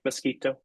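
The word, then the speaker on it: Miskito: speak English Spanish and mosquito am I saying it right mosquito you can that's that's how you would say it in the language okay yeah it's all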